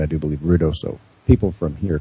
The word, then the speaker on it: Ruidoso: And I do pronounce it correctly. I do believe Ruidoso. People from here call it Ruidosa.